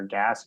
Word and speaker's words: Gass: You can follow me on Twitter at Empire Gas, GASS, pronounced gas, but spelled gas.